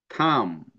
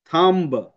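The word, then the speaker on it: thumb: এই যে কম ক্লাইম থাম দেখছো কম ক্লাইম থাম্ব কিন্তু আমরা এভাবে বলবো না কম্ব ক্লাইম্ব থাম্ব বি বলা যাবে না বি এর ব উচ্চারণ হবে না ক্লাইম ম থাম ম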